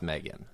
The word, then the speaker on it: M3GAN: uh Megan Megan yeah it's definitely pronounced Megan I wanna this is